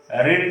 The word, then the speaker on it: read: इसका होगा हैड यू, रीड का फिर रेड होता है, स्पेलिंग READ होगा, लेकिन उसको रेड पढ़ेंगे विद ये हैड यू रेड a book.